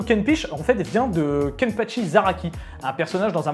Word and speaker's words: Kenpachi: Et lui n'arrivait jamais à prononcer Kenpachi, il disait Kenpiche, et du coup, petit à petit, il a commencé à m'appeler Kenpiche.